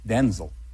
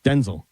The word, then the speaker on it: Denzel: pronounced Denzel.